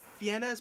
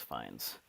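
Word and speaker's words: Fiennes: to pronounce that name it looks like like Ralph fenes but it's probably like Ralph fines or something yeah I've heard it several yeah I've heard it several times it's fines Ralph Lord vort this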